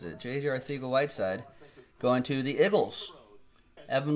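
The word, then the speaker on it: Arcega-Whiteside: pregame show he looked pretty pretty good JJ Aarthi go light side that's how he pronounces it JJ I think a white side going to the Eagles Evan Levine with the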